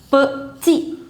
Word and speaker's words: petit: Et je prends mon petit. 2 syllables. Petit. The last consonant you don't pronounce, so it becomes petit de.